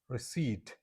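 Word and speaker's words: receipt: तो यह रिसीव्ड नहीं है। इसकी सही प्रोनंसिएशन है। रिसीव रिसीव यह पी इसमें कंप्लीटली क्या है? साइलेंट है।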